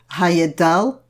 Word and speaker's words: Heyerdahl: you will be amused I'm going to try say his name properly it would be Thor Heyerdahl but that puts my tummy in the wrong place for the rest of what I'm saying so I'm afraid it's going to stay Thor Heyerdahl for the rest of this talk Thor Heyerdahl set out